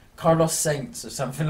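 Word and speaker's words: Sainz: I thought it was Sands. No, it's Carlos Saints.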